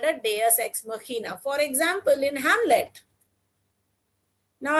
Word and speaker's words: Deus ex machina: See, the pronunciation is very peculiar. Deus ex machina.